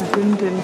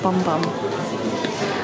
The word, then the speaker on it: Bum Bum: Apparently it's boom boom cream, not bum bum. I've been saying it wrong.